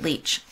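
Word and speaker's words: Lich: to tamara lick leach she pronounces it leech and they're based on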